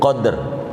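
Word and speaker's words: قدر: Kalau dibaca qafnya fathah, dalnya mati. Mati itu sukun, qadr.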